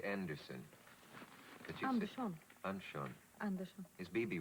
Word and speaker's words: Andersson: I say Andersson. Andersson. Andersson. Is Bibi right? Yes. Okay, then I'm half right. Perfect pronunciation.